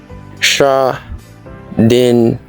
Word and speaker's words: Schadenfreude: It is pronounced Schadenfreude.